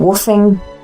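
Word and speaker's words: WWOOFing: it for years, this thing called woofing, and that's WWOOF. It's spelled.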